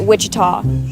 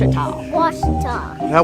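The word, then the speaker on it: Ouachita: searching for Baptist University back in Texas everybody pronounces it Witchita but really it's was was was how would you pronounce it was it's was Baptist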